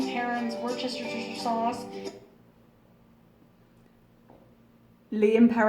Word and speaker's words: Worcestershire: We don't say shire, we say sheer.